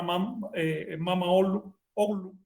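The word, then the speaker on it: Mama Ocllo: Manco Cápac y su hermana Mama Oglu, dicen que se pronuncia así, bueno, se escribe Mama Oyo, y ellos hace cosa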